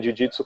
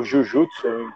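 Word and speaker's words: 柔術: enfim, como queira pronunciar, a pronúncia correta seria jiu-jitsu, né? Seria, se a gente fosse escrever, seria DJYU, mas isso é uma escrita que eu estou fazendo aqui para tentar fazer a pronúncia do que seria, né?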